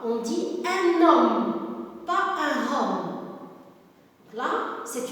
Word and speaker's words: homme: Elle peut être au début, donc un homme, un hôtel, regardez, H, le H, c'est un H muet, il ne se prononce pas. On dit un homme, pas un homme.